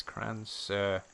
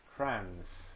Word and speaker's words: Crans: I think it's spelled like this. Cran-sur. There we go. What's the time? 9:45. Cool. Search. Huh? What? I'm going to have to look up. Crans. It's Crans.